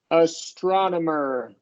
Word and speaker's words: astronomer: that's a tough one so it is going to be a wide a and Then followed by a short o that and this one's going to get the primary stress astronomer astronomer the astronomer schah